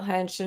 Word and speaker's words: henshin: Works hard wanted to know how to spell henshin, and Princess Tian helped us out with that. For those who are listening, it is Henshin. Correct. Yes. So phonetically spelled basically is hen shin.